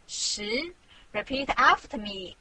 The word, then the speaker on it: 十: This is its syllable 十. Repeat after me 十.